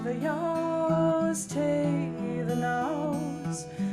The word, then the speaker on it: ewes: And her best known work is Call the Yows, Tay the Nows, which means call the sheep to the field. The female sheep, EWES, is pronounced yows in Scottish.